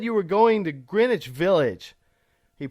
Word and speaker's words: Greenwich Village: Greenwich Village, I said, pronouncing it correctly for the first time, which was a practice try.